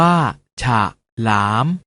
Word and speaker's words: ฉลาม: เสียง ว่า ถ้า ถนน ฉลาม ออก เสียง ว่า ฉาก หลาม ขนุน ออก เสียง ว่า